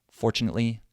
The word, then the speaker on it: fortunately: and the last, but in the second phrase, there are 3 syllables, so I have to say them really fast. Fortunately, no. Right? So I say chinately, fortunately, no. Sadly, no. Fortunately, no.